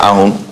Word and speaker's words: ahun: The English version says that, is it ahun? How do you pronounce A-H-U-N? Ahun, yes, a stingy person.